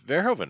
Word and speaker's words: Verhoeven: However, there is at least a movie I love him in, and that is Starship Verhoeven's. It's Verhoeven, right?